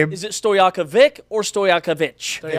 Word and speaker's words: Stojaković: Andre Stojaković who is the son of former Sacramento Kings Peja Stojaković Peja?